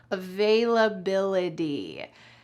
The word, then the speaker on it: availability: Notice that the T at the end of this word is pronounced like a D in American English. Availability.